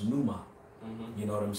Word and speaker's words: pneuma: where that word spirit and the greek is pronounced pneuma you know what i'm saying when you go